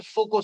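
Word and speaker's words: Foucault: ये कहा गया किसी मेटल को, ये डिस्कवर किया था मिस्टर फोको साहब ने। एक साइंटिस्ट थे फोको, स्पेलिंग तो फोकाउल्ट लिखी जाती है, FOCAULT, लेकिन नाम उनका फोको था।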